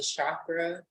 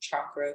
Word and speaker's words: chakra: If you're someone who is really on kind of the chakra aspect, or let me say chakra, because that's the correct pronunciation, you guys.